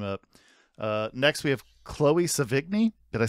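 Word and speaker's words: Sevigny: Next, we have Chloe Savigny. Did I say it right? I think it's Savigny. Savigny? Okay. Well, there you go. There's like a nya sound in there.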